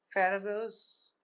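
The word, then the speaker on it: Farabeuf: আমরা বলি Farabeau's elevator this pronunciation is like that but the spelling is Farabeau B-E-U-F we say Farabeau's elevator okay so Farabeau's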